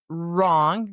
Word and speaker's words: wrong: When there's an R right after the W is silent, as in write. I'm going to write you a letter, escribir in español. Wrong, the opposite of right is wrong, R-I-G-H-T, that right.